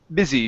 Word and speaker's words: busy: instead of Busy B busy short eye sound busy busy busy good